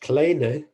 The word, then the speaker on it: Kleene: Apparently Kleene's name was correctly pronounced kleine, but nobody pronounces it like that. I mean, amongst people I've heard talking about cleaning, I never hear anybody say kleine, so it just sounds very strange, but that was the way it was supposed to be pronounced.